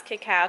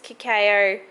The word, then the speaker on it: cacao: this before this is kakeo cacao everybody always picks on how i pronounce it i don't know the correct way cacao kakeo look we used